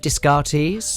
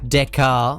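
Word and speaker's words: Descartes: I'm gonna probably mispronounce. Is it Discartis? Dear Decar, I believe.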